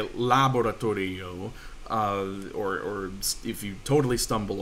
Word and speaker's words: laboratorio: Laboratorio, right? The second to last syllable is there.